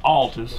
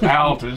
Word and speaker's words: Altus: I run AIC mags, and as they said, the Altus, it's not Altus, it's Altus. Altus?